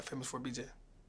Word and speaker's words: FAMOUS4BJ: is famous with a number four BJ yeah famous for BJ do people mispronounce this um some people be trying to